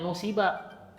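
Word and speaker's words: نُسِبَ: Tapi kalau misalnya ada fiil kedepannya itu jar majrur, biasanya dimajhulkan. Ini kan jar majrur kan, huruf jar kan ila kan. Nah biasanya dibacanya nusiba. Nah, itu ya. Biasanya gitu. Itu pasti dimajhulkan.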